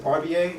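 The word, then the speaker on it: Varbier: the way you work my name's mr. Parr ba it's spelled VAR b ier and there were certain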